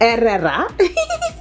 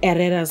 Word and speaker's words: Herrera: Carolina Herrera. I know the H is silent.